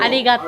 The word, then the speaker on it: ありがとう: ありがとう。ありがとう。